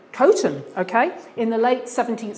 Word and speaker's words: Coton: Is that how you pronounce it? Coton. Coton, okay.